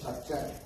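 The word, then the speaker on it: שחת: it's a word pronounced as shakchet.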